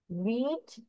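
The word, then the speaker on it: read: রিড present, রেড আর ই এ ডি, রেড past, আবার রেড past participle, তাহলে পুরো উচ্চারণ ডিফারেন্ট কিন্তু বানান একই, আবার সবগুলো একই ক্যাটাগরি, বাট ডিফারেন্ট জায়গায় ইউজ হচ্ছে, ডিফারেন্ট টেন্সে ইউজ হচ্ছে।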